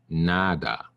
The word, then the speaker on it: nada: that I get is nada NADA the stress is here on the first a NADA now I'm going